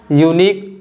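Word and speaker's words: unique: pattern देख सकते हो इन तीनों में भी जो लेटर यू है य साइलेंट है और ई भी साइलेंट है और जो लेटर क्यू है यह कौन सा साउंड बना रहा है क साउंड बना रहा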